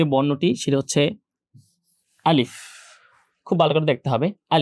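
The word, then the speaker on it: ألف: দুইটার উচ্চারণের জায়গাটা একই তো আলিফ উচ্চারণ করতে শেষে ফা এর একটা সাউন্ড আসে। এ ফাটা উচ্চারণ করতে হয় এফ এর মত করে। তাই আলিফ যখন উচ্চারণ করব শেষে এফটা ভালো করে উচ্চারণ করতে হবে।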